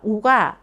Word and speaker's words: ㅗ: O(ㅗ). Less effort is needed in the lips for O(ㅗ) than for U(ㅜ).